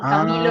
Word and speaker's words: Chamilo: No, se escribe con C, pero la pronunciación es igual. Camilo Ah, Sesto y Camilo, sí.